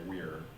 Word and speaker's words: vir: word for man is, I would say vir, but you would maybe say weir with the pronunciation, right? But V-I-R.